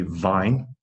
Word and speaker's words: vine: understand what you're saying if you cannot say vine people will think you mean wine why are you talking